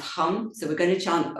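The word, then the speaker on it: ham: But if you would like to do the seed mantra, the it's hum, h a m, but it's pronounced hum.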